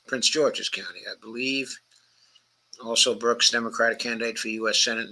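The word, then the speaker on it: Alsobrooks: last night the county executive um um Angela also Brooks also Brooks is spelled just the way it sounds also Brooks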